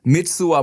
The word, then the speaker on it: Mitsuwa: Mitsuwa Marketplace, all right?